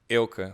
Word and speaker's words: Eelke: yeah the thing is a lot of especially American people have difficulty saying ilka which is my normally to pronounce ilkook line so but even I think